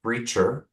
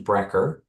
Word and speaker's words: Brecher: By the way, it's pronounced Brecher as opposed to Brecher, but I have been called way worse, so you should not worry about that.